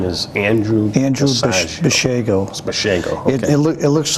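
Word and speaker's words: Basiago: tell us a little bit about that andrew bashego okay it's spelled b-a-s-i-a-g-o and he was he's a real-time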